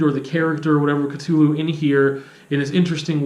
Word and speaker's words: Cthulhu: concept of Cthulhu, which I know some people pronounce differently, but I'm going to go with Cthulhu.